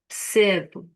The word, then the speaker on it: percebo: And I'm going to squash up the beginning E. Percebo, percebo, Percebe.